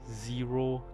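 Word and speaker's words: Xero: are made from uh this source code called zero chat right so it's spelled with x x e r o chat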